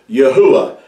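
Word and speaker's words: יהוה: his name is pronounced you would have to pronounce these letters in ancient Hebrew yahuwah and I'm going to show you why that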